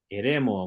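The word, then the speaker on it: ἐρήμῳ: Eremo, muy bien, Eremo. Fíjense que la iota suscrita no cambió para nada la pronunciación y significa en el desierto.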